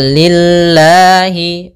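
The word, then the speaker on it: لله: lillahiabbilamin maka amdulillahiabbilamin Kemudian pada lafal lillahi ini lamnya tipis Yaitu lafzulah didahului dengan huruf kasrah maka tipis Kemudian pada lafal Allah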